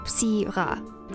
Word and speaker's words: Syrah: Syrah is the French name and is pronounced Syrah.